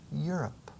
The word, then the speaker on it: Europe: Y el inicio de Europa es igual. Europe. Casi como si estuviera diciendo tú estás arriba. Europe. You're not down. Pero acentuando la primera sílaba.